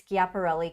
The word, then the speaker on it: Schiaparelli: I think that's how you say it because it's Italian. So usually I have the hard C. So it's Schiaparelli Couture.